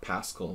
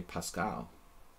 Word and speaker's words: Paschall: Okay, my name is like Pascal, but the Hungarians say Pascal. Because they don't, know how to say it any other way.